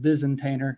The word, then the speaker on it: Vizentainer: Just like it's spelled, Vizentainer.